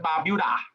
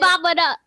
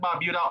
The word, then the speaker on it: Barbuda: 28 visited Anguilla, and 30 visited Barbuda. Better, Emily? Yes, sir. Actually, Sir, it's you're pronounced pronouncing Barbada. don't listen Barbuda. to Sanjay. Don't No, listen. Barbada.